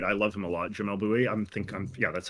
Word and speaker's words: Jamel Bouie: Jamel Bouie.